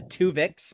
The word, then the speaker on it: Tuvix: We have Tuvix, but it's spelled Twovix, so a sequel to Tuvix, and that's going to be followed by a Harlan Ellison paraphrase.